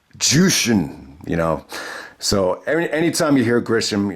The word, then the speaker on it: Jushin: I mean, anytime you mispronounce someone's name like Jushin Thunder Liger, he actually called him Justin Thunder Liger with Chris Benoit on commentary. And it even pissed Benoit off. He's like, Jushin, So anytime you hear